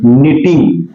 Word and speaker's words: knitting: को, एंड और डू निटिंग। देखो यहां पर के बाद में अगर एन आता है तो के लोप हो जाता है, यानी के का उच्चारण नहीं होता है।